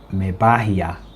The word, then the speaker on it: Mebahia: So the proper pronunciation here is Mebahia. Mebahia.